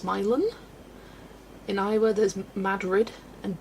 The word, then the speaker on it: Milan: Near me there's a Milan, but it's pronounced Milan.